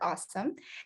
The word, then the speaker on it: AUesome: yes our company is awesome a-u-e-s but we just pronounce it awesome so we are a